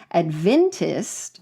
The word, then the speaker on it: Adventist: It's not Adventist, it's Adventist.